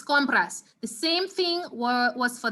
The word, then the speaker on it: compras: We're gonna say compras. The stress is gonna go right here. I mean, the word only has 2 syllables, but you realize that the first syllable is really the second to last syllable. So the same rule applies.